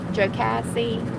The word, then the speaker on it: Jocassee: martin in alabama lake altoona in georgia lake jocassee that's how you say it in south carolina